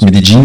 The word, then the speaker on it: Medellín: Donc j'ai fait 2 villes, Medellín, bon, on prononce Medellín, et Cartagena.